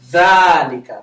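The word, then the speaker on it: ذلك: So dhalika is pronounced dhalika, but it's not written with the alif.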